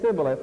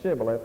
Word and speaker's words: Shibboleth: So they said Sibboleth, and they couldn't frame to pronounce the word Shibboleth, and it cost 42,000 of them their lives.